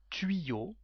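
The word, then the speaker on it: tuyaux: The plural is tuyau, the same pronunciation.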